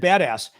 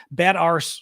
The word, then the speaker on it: badass: bad ars sounds wrong because we don't say ar in American English.